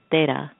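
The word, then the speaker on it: तेरह: And in Indian culture, in Hindi, 13 is pronounced as Tera.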